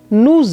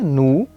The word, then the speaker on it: nous: O S final, que não é pronunciado quando a gente diz a pessoa sozinha, nous, passa a ser pronunciado com o som de Z quando a gente conjuga com o verbo aller.